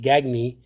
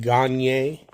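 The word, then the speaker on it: Gagné: and who's this Greg he pronounced it gagne but the French pronunciation is like Eric gagne gagne all right let's go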